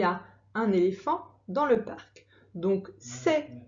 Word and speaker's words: éléphant: Un, plus loin, éléphant, éléphant. C'est le an qui s'écrit avec un A. Et à la fin de éléphant, il y a une lettre muette. Donc c'est un éléphant. Dans, c'est le mot outil, dans.